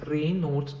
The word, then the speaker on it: Raynaud: learn about rainard syndrome the condition known as rain not syndrome which is pronounced as rain nodes affects the tiny blood